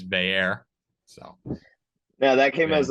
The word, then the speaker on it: Bayer: i i noticed that you changed the pronunciation according to franklin's press conference today the fair instead of a u as everyone else would always stare uh one of our favorite beat writers audrey snyder printed out the uh pronunciation list a couple days ago i got that saved so we know i forgot guys we're going forward so it is bayer so now that came